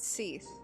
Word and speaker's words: Sigewinne: waiting for someone to pronounce her name it's pronounced SE yep when you register a brand the court